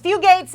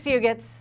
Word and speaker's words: Fugate: There's Fugates and there's Fugates. We say Fugate is the rich pronunciation, Fugate is the poor pronunciation.